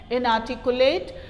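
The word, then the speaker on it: inarticulate: Pronunciation में ध्यान दीजिएगा, आर नहीं बोलना है, आर की जगह ह का प्रोनाउंसिएशन करना है। इनआर्टिकुलेट।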